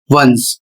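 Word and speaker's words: once: तो यहाँ पर देखिए इसका जो उच्चारण होता है वन, और इसका जो उच्चारण होगा वंस।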